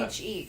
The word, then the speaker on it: niche: And Google will tell you how to N-I-C-H-E, fucking correct?